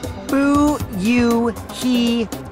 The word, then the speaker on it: Fuyuhiko: My first name is pronounced Booyuhiko. Booyuhiko!